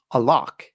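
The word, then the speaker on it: علق: The Arabic word used is a lock and it ends with a Q. It's a Q sound, not a K in case that's not getting through with my terrible pronunciation.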